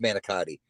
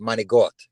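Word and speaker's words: manicotti: It's not pronounced manakotti. It's pronounced managot.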